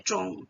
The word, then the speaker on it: zhong: Untuk yang lainnya kalau misalnya ZH tambah ong ya bacanya ya zhong gitu.